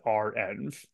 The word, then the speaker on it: renv: that it is pronounced RMV and the reason why is because it's actually just a shorthand for reproducible environments so R and then the N for environments so RM is always